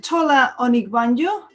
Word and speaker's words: Tola Onigbanjo: According to LinkedIn, Tola Onigbanjo, did I say it right?